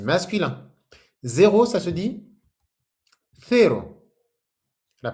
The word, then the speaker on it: cero: Zéro, ça se dit cero. La prononciation, le C avec un E, c'est comme un Z. La langue entre les dents.